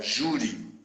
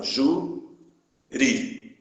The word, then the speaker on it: júri: Aqui a palavra júri. Se separar as sílabas, fica assim, ó, júri. Ou seja, a sílaba tônica é a penúltima sílaba.